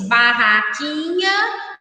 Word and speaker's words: barraquinha: queimado novamente barraquinha queimado ao falar essas palavras você pronunciou a letra u ou não pronunciou uma letra U por exemplo na palavra barraquinha e nós lemos barraquinha ou barraco nha ratinha então não foi pronunciado a letra U agora leia em